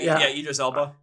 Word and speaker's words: Idris Elba: I know I'm going to, but everyone keeps throwing out the Idris Elba, whatever. Idris Elba.